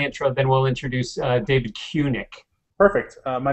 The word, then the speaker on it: Cunic: other David, our third David, number three, Dave to this three, is David Cunic, pronounced Cunic.